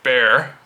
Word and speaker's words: Bexar: that's the tactile knife bear it's pronounced bear but spelled Bexar b-e-x-a-r but again it is